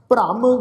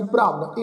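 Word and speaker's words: ਭ੍ਰਮ: सेवक कीनो सदा निहाल, बंधन काट मुक्त जन भया, जन्म मरण दुख भ्रम गया। ये जिहड़ा शब्द है जी भ्रम, इनू भरम नहीं उच्चारण करना।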